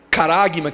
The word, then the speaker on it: charagma: Caragma que se escreve charagma, né? Só que esse ch aí no grego é caragma.